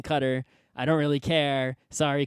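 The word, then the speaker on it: Qatar: the World Cup to Cutter or however you want to pronounce it Kar however I say qar I say qar but everyone else seems to be saying cutter I don't really care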